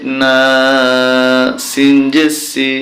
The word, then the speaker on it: الناس: আলিফ জবর এক আলিফ না সিনসি নাসি যখন আমরা এখানে থেমে যাব তখন উচ্চারণটা হবে নাস কুল আউজুবি রব্বিন নাস